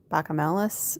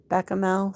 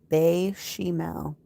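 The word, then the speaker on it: béchamel: Asparagus lasagna with ham and bacamelis sauce.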